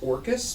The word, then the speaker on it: Dorcas: Symbol of Dorcas? It's pronounced Orcus, but yeah, the D is silent.